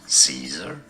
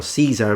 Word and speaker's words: Caesar: as in sort of the original pronunciation Kai Kai is how you'd say it and he's gonna repeat it again so it's interesting because at least he does the C correctly but he puts the stress at the end whereas the stress is at the beginning I'm glad it didn't